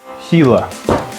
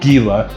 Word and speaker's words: Gila: I was calling it Gila and then once he said Hila was like, "Oh, duh." Yeah. Like, you know, the Hila monster, you know, hot down